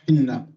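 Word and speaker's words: حنة: In Arabic it's pronounced Hinna.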